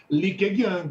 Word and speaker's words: Li Keqiang: Eu não sei se a pronúncia está certa, viu, professor, mas é Li Keqiang. Li Keqiang, isso mesmo, Li Keqiang.